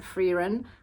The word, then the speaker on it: Frieren: TV, uh Indie and I watched all of season 2 of I say Frieren, it's they pronounce it Freeren, but we'll just say Frieren cuz that's what I'm used to, which is based on